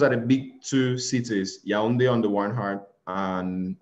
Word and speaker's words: Yaoundé: So where you are is Yaoundé. That's okay. The capital city. Yes. That's how you pronounce it, Yaoundé.